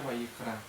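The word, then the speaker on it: ויקרא: levítico es y llamó esto en el hebreo se pronuncia Vallecano entonces también la parashá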